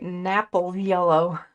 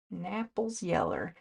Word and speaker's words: Naples yellow: Napple yellow. Just kidding. pronounced Naples. Naples yellow.